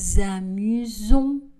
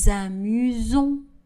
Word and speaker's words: amusons: Nous nous amusons. Nous nous amusons. Attention, le son Z, à chaque fois le S est entre deux voyelles. Nous nous amusons.